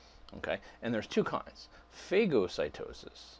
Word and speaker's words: phagocytosis: and there's two kinds phagocytosis some people will pronounce that Fazzio cytosis is when big chunks